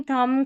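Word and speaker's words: thumb: MB जब रहता है ना, स्पेलिंग के आखिर में देखिए MB आ रहा है ना, तो B साइलेंट है। क्लाइम, थम, कॉम, लैम और बॉम, तो थम, ठीक है, B का उच्चारण नहीं हो रहा है।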